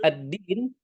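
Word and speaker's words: الدين: Hati-hati addin di sana itu menggunakan huruf dal. Jadi itu ya ustazah ya. Dal memang terkadang mirip dengan huruf ta. Yaumidin. Yaumidin. Hati-hati huruf ta dengan dal harus lebih kita bedakan lagi.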